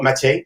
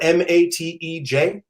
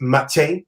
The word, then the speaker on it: Matej: And, Mathieu is how we actually say his name. It's Mathieu. It's a Slovak name. It's spelled Matej, but it's not just Mate. It's Matej. Like you have to. There's a y to it.